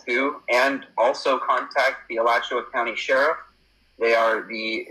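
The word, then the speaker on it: Alachua: Um, I'm gonna Let me see if I can put the information with the um How do you pronounce it? Is it Elatchua?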